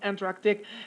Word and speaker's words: Antarctic: They do not pronounce the K, okay, which is a C, of course.